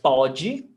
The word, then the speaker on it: pode: So pode is presente. Ele pode. Ele pode nadar hoje. Ele pode nadar hoje.